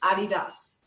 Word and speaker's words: adidas: to stay silent well the actual pronunciation is adidas and there might be